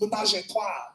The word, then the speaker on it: ménage à trois: And he was like, it's not that L to pronounce it ménage à trois.